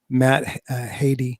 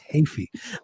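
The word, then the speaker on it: Heafy: I went on to interviews and got the pronunciation right. I just didn't say it right just now. It's Hafey.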